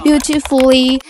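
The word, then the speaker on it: beautifully: আমরা সাধারণত ফুলি দেখি, বাট মানে আমরা স্পেলিংয়ে ডাবল এল লিখি, বাট অ্যাকচুয়ালি আমরা উচ্চারণের সময় ডাবল এ উচ্চারণ করবো না, আমরা একটি লি উচ্চারণ করবো। ফর এক্সাম্পল বিউটিফুলি, আমরা লি লি না ফুললি না, তবে ফুলি উচ্চারণ করবো।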